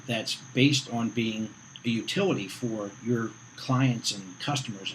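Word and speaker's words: Youtility: And basically the premise of this book, Utility, and it's spelled Y-O-U-T-I, Utility, is if you can't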